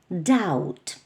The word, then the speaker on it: doubt: Зверніть увагу, що буква B в слові doubt не вимовляється. doubt.